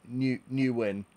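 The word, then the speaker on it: Nguyen: Pronounced Newin. Hi, Newin. Not like it's spelled.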